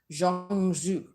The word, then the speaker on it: zhong zhu: may not be but it's basically spelled as z-h-o-m-g-z-hu zhong zhu if you are chinese